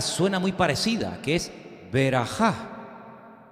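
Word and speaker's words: ברכה: una palabra que suena muy parecida que es beraja bejor beraja bejor es primogénito y beraja qué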